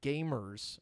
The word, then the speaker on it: GVMERS: there's a youtube channel called gamers but it's spelled gvmers that does like really really